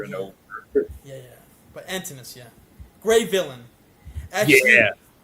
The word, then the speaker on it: Antinous: Yeah, it's It's I'll tell you exactly. it's It not is Antinous. Antinous.